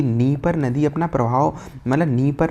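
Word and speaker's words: Dnieper: पे गिर रही है नीपर नदी। जो डेनिपर नदी है वही नीपर हम पढ़ते हैं, इसमें वो साइलेंट रहता है, तो डेनिपर हम कभी कभी पढ़ते हैं।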